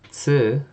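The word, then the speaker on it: つ: Tsu is a unique sound, but it sounds like the end of pants.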